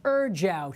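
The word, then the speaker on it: ejiao: E-J-I-A-O, pronounced Erjiao.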